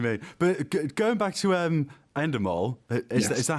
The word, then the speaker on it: Endemol: But going back to Endemol, is that how you pronounce it? Yeah, Endemol Shine.